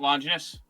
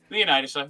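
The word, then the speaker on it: Leonidas: It's not Lynus. No. Okay. Leonitis.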